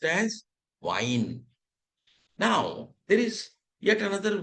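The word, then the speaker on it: Wein: So I first E afterwards we pronounce it like E and when E comes first and I comes afterwards pronounce it as I.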